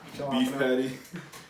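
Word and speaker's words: jalapeño: them really quick the jalapeno or jhalak no jalapeno the J is silent but anyway he's gonna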